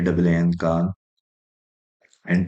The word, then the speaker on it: KAAN: this is called drish Aerospace Industries KH K KH and Turkish language that's pronoun pronounced as Khan and uh in English in